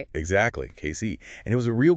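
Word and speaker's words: Cayce: That's pronounced Casey, right? Exactly. Casey.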